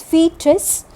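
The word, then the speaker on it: foetus: t u s is it's pronounced as fetus so i have given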